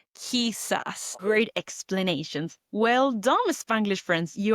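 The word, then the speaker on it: quizás: Now notice I didn't say quisus, I said because I'm practicing that K sound. Whenever we see queu or quui, we're pronouncing it as the k sound in English. Kissas.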